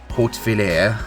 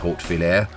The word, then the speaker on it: Hautvillers: and we are near to a village called Hautvillers, and I don't know if I'm saying that right, and I'm sorry, but I think it's pronounced Hautvillers.